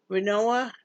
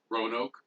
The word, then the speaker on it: Roanoke: Renoa? Roanoke.